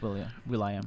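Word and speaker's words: will.i.am: Will I am? I think so. Oh, okay. Oh, Will I Am. And I didn't know that's how you pronounce his name. Well, it's William, but Will I Am.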